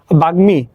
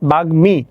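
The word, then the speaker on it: বাগ্মী: উচ্চারণ হয় কিরকম দেখো বাগমি তাহলে কি আছে বাগমি তাহলে গ এর সাথে ম আছে এইযে গ এর সাথে ম ফলা রূপে যুক্ত আছে তাহলে গ এর উচ্চারণ হবে ম এর উচ্চারণ হবে বাগমি তাহলে কি হবে ব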